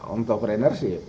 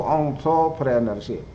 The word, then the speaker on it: entrepreneurship: Oh, ya dia baru kemudian dia menjelaskan ya bacanya itu ya entrepreneurship. Ya. Jadi rada-rada monyong sedikit lah. Bukan entrepreneur, bukan ya. Terdengar enter kan jadi masuk. Ya, yang benar itu entrepreneurship.